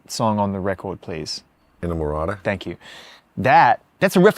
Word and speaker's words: Inamorata: There's can someone please pronounce the last song on the record, please? Inamorata.